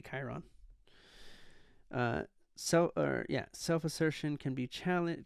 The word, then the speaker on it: Chiron: I will say science Chiron Sheron Chiron however you want to pronounce it it's I think it's technically Chiron uh so or self